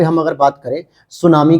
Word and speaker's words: tsunami: है, जापानी भाषा का, जिसको इंग्लिश में अगर आप देखोगे TSUNAMI, जिसमें क्या होता है, टी स्पेशली साइलेंट हो जाता है और हम केवल प्रोनाउंसिएट किसे करते हैं दोस्तों, तो केवल इस वर्ड को करते हैं, सुनामी को।